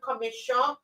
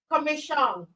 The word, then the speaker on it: Comissiong: Comissiong. Comissiong.